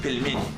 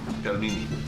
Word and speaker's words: pelmeni: This dish again, how do you pronounce it? Pelmeni. Pelmeni.